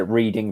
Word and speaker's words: Reading: there is yeah yes reading is spelled reading really yeah i bet that i bet they pronounce it reading pennsylvania as well here we go just